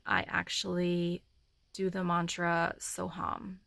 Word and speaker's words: Soham: actually do the mantra Soham spelled s o space and that's H a.m. but it's pronounced hum so in my mind